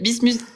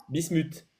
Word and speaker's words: Bismut: il pas de souci vas-y redis-le-mi Bismut bis Bismut ok c'est c'est le T que je dois prononcer à la fin très bien Bismut